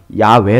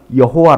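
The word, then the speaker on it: 야훼: 하나님을 야외 라고 불러요 발음 하는 사람들에 따라서는 야외 라고도 하고 여호와 라고도 발음합니다 이름은 서로 다르지만 결국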